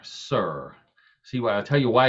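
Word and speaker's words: Cyr: Now, if you don't know what a Sir, and Sir is spelled C-Y-R, Sir.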